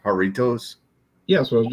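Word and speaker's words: Jarritos: I would say jaros little jars but they pronounce that haritos but jar you know jar jaros little jars haritos this is the mango is it haritos isn't it pronounced haritos yeah that's what I was just saying I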